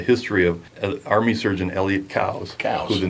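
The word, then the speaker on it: Coues: i think challenge them it's cows not coos yes i will give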